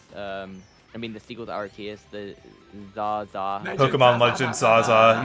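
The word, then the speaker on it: Arceus: really enjoyed Legends arus um rcus I don't know who says it like that like if you say it like that no yeah I always just say arus better yeah yeah I but it's supposed to be arus okay I'm not saying that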